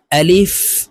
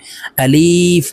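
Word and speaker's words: ألف: করি টেনে উচ্চারণ করি আলিফ এভাবে টেনে উচ্চারণ করে থাকি প্রিয় দর্শক এভাবে যদি টেনে উচ্চারণ করি তাহলে আলিফের উচ্চারণ সহি ভাবে হবে না আলিফের উচ্চারণ তাড়াতাড়ি করে পড়তে হবে আলিফ আপনারা আমার সঙ্গে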